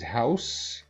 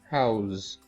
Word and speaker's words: house: The sounds differ. This is house and this is pronounced house.